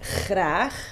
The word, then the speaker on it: graag: I think it's about the pronunciation of the g, like graag, because it's really up here in the back of your throat. And I think that's what people really find difficult to say.